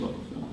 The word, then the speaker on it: Local Foo: It's like Kung Fu, but Local Foo.